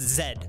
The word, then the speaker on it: Z: I just said Zed. I'll show myself out. Oh, Canada. Yeah, that's right. We say Zed. We say Zed because that's what the English say, and they invented the goddamn language.